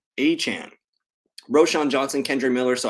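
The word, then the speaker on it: Achane: him running back Devon a chain and apparently we've been saying it wrong it's Devon a Chan a Chan Roshan Johnson Kendra Miller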